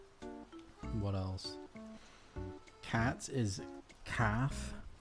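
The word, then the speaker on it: cath: Cat is calf. C A T H. And the T makes a F sound.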